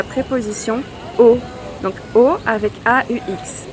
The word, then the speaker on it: aux: Donc au avec AUX. Mais le X ne se prononce pas. Et donc du coup, ici, donc on va dire aller aux Pays-Bas.